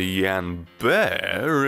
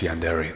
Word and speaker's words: yandere: time for yandere to yand bear at all I know it's pronounced yandere the joke doesn't work if I pronounce it right what the bloody hell